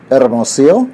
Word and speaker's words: Hermosillo: Hermosillo? I think that's it. One. You just don't pronounce the H. The H is silent.